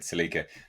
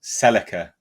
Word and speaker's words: Celica: People are picking up on my the way I said Celica. That's how it's pronounced here in the UK, guys. Celica doesn't sound right to us Brits, so apologies.